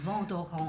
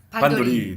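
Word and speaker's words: Vandoren: 근데 정확한 발음은 저도 아니더라고요. 사실 ANEN이 비음으로 돼서 V, Vent 네. d'Orang이에요. 좋은 R 발음이네. 발음에서 Vent d'Orang. 벙도헨. 근데 이제 전에 한국에서는 반도리. 반도리.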